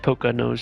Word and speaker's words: Poconos: Poke his nose and take him to the Poconos. Wait a tick. This pirate just like, I'm gonna break your shield with my fist. You're hard. As Olaf just picks his nose. It's pronounced Poca nose.